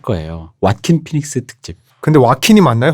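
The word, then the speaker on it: Joaquin: 만드는게 제일 시작하는 그대로 스페인에서 제이는 h 발음이 나기 때문에 꼭 막히니 맞는것 같은 해 근데 뭐 이름은 지은 사람이 자기 부르는게 맞으니까 와 킨 이라고 한다 고 답이 되어있더라구요 에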